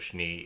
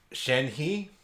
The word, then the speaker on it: Shenhe: lettering of her name I actually thought it was shne it's uh sheni I believe is the pronunciation I could be wrong on that but uh it's a lot better than shne because I keep saying shne because I think shne from Ruby anyways uh let's jump into